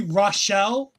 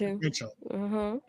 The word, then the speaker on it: Rachel: I I keep wanting to say Rashelle because I feel like there's a letter missing for Rachel, but they did pronounce Rachel.